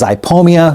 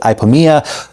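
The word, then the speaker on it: Ipomoea: attractive it's super easy next up is ipia some people pronounce it ipomea sweet sweet potato vine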